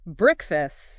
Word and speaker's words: breakfast: The break part is a bit quicker here. Stress on the first syllable. Breakfast.